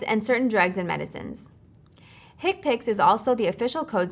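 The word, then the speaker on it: HCPCS: common procedure coding system HC PCS commonly pronounces hick picks are a set of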